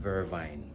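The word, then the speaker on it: vervain: as well blue verine in Jamaica we call it vervine we have that FL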